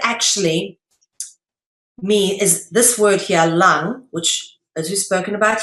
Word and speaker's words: lang: Lang is pronounced lang, all right? Like your breathing lung, okay?